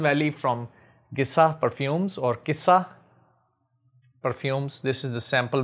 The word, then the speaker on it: Gissah: cough cough and uh in English it is started with G so maybe a lot of people they might pronounce it Giza but I think I personally think it is Kissa Kissa means basically stories